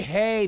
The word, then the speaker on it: Hay: No, Harry Haye started the gay right Harry Haye. That rhymes with gay.